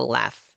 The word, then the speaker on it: laugh: Um, pay close attention and try to identify the words where gh is pronounced like an F. Well, we already know that laugh is one of them, right?